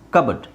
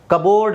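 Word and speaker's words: cupboard: silent P ತೆಗೆದು ಹಾಕಿಬಿಡಬೇಕು ಸಿ ಯು ಬಿ ಓ ಆರ್ ಡಿ ಕಬಡ್ ಕಬೋರ್ಡ್ ಅಲ್ಲ ಕಬಡ್ ಹಾಗೆ ಇಲ್ಲಿ ಪಿ ಸೈಲೆಂಟ್ ನ್ಯೂಮೋನಿಯಾ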